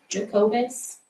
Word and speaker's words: Jacobus: Jacobus. That was the name, right? Yeah, it's spelled like Jacob with a US at the end.